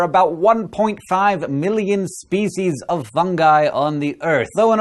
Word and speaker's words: fungi: the wonderful world of fungi or fungi both are acceptable pronunciations but I say fungi because it's fungus not